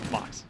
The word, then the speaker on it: Mox: You call him Mors or or Mouse. You call him, how do you pronounce that? Mox. Call him Mox.